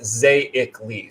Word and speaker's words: Zaicles: He says it's pronounced Zaicles. So now I know Zaicles.